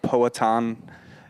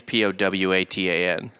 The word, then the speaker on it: Powhatan: I think it's Powhatan. Like, I think that's what it is. It's Powhatan. No, that's how you phonetically spelled it.